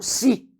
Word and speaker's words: se: Eu pronuncio o SE como si.